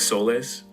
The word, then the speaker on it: soles: I don't mean to step on your toes, but calling them souls, is it pronounced like soles? Yeah.